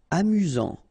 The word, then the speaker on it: amusant: Amusant. Final T not pronounced. You've got only one S here between the vowels, so it's really this Z sound. Amusant.